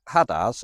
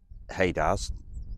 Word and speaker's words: HADARS: So Hadaz or Hadars depends entirely which side your crumpet is buttered as to how you pronounce it.